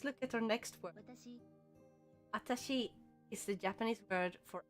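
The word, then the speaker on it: あたし: So they have watashi, and then if you remove the W and just pronounce it like atashi with just the A at the front, it will be a very feminine form, and it's informal.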